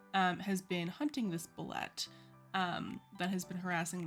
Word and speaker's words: Bulette: They are doing a hex crawl and they have just encountered a bullet. Blet, let's see what they how they pronounce it on the site.